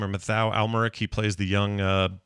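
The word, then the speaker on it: Mathieu Amalric: Murray Abraham's in it he's amazing um uh Matthew almeric and he said his name or matau almeric he plays the young uh uh boy that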